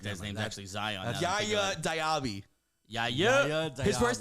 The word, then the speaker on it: Yaya: Yaya Dyabi. Yaya. His first name is spelled Y A Ya.